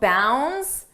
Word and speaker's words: bounds: about Leaps and Bounds notice how bounds the D is not pronounced bounds n bounce and here when we